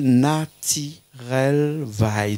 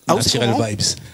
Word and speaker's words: Nattirel Vybs: Le groupe s'appelle Naturel Vibes, c'est ça, hein? Yes, ouais, c'est ça même. On a retenu la prononciation. Mais voilà, exactement. Super, Naturel Vibes.